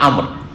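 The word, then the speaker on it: عمرو: এটা ওমর আর এটা আমর। এই পার্থক্য করার জন্য আমরের পরে একটা ছোট্ট করে ওয়াও লিখা আছে, দেখেছেন না? ওয়াও পরে একটা ওয়াও লিখা আছে, কিন্তু ওয়াওটার উচ্চারণ নেই।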